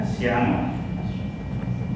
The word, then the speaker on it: Asianua: Asianua. A-S-I-A-N-U-A. Yeah, I tried to pronounce it. It sounds like Asia, right? Yeah.